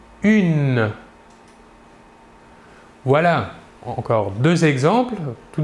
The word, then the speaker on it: une: une il s'écrit humaine il faut bien différencier la prononciation entre le masculin et le féminin au masculin 1 et au féminin une voilà encore deux exemples